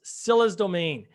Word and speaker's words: Scylla's Domain: So this game is called, I pronounced it wrong before too. Is Scylla's Domain. Scylla's Domain.